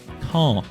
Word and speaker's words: Caen: And yes, that is apparently how you pronounce him. I actually had to Google it. Caen.